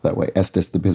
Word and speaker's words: Estes: Estus because it rhymes with the bestest.